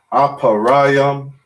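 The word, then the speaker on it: אפרים: duh and they connect so ephraim is aparayam manasseh is manasha and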